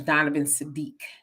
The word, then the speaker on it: Donovan Sadiq: But it's Donovan Sadiq. It just as his name is spelled.